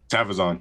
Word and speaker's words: Tavizon: Tavizon.